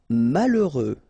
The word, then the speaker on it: malheureux: Malheureux. H doesn't exist, okay, so you get mal, heureux. Final X not pronounced.